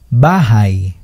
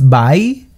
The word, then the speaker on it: bahay: Gusto kong magkaroon ng bahay. No es bay, es bahay. Se pronuncia el H en Tagalog.